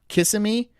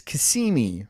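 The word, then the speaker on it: Kissimmee: I did too right I used to call it kissm it's Kimi right and it's okacha right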